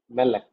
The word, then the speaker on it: melek: Melek. Initial consonant is accented, it is carrying segol.